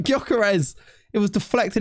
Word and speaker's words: Gyökeres: Gyökeres! Didn't even say his name right. Gyökeres.